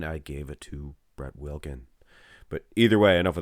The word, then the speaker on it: Wilkin: i mean the newcomer wilkins brett wilkins hey if you think i mispronounced his name it's brett wilkin but earlier on you